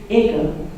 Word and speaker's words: Eager: Those of you who are from around that way, you know the pronunciation is Iga. But the word is spelled Eager Street.